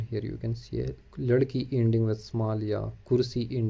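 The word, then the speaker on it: لڑکی: Then girl is ladki. L-A capital R, ladki.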